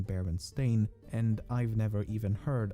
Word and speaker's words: Berenstain: anthropomorphic bears however many remember the name as berenstein and not baron stain i also find it